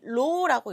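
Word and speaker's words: ρ: 이 로우라고 읽습니다.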